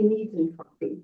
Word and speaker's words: negentropy: I say Negentropy. Negentropy. We'll just go with Negentropy. Oh, not ugly. Yes, Isaac just said you might want to avoid the other pronunciation there altogether.